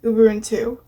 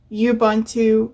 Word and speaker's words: Ubuntu: everyone 2 10.10 and yes it is actually pronounced Uber and two because of course it's a it's based on